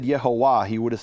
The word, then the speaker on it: Yehovah: If you'd ask Ezekiel to pronounce the name of God, he would not have said Yehovah, he would have said YeHoVaH.